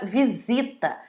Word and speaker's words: visita: Também passa pelo mesmo caso a palavra casamento, a palavra crise, a palavra pesquisa e a palavra visita, entre milhares de outras.